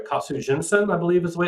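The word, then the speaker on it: 活人剣: In Japan, there's a concept of, if I remember, make sure I get this right, Katsu Jinsen, I believe is the way it's pronounced, the sword that gives life.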